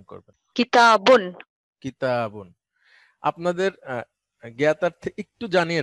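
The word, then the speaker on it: كتاب: আমরা একটু দেখি আপনি বলবেন ম্যাডাম এই শব্দটা উচ্চারণ করবেন কিতাবুন কিতাবুন আপনাদের জ্ঞাতার্থে একটু জানিয়ে রাখি আপনারা এটা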